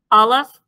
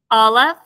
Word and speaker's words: Aleph: And so the forms of the letters, Aleph is a guttural. It's a very silent sound, so it does not make any sound unless it has a vowel underneath it, and then you pronounce the sound of the vowel.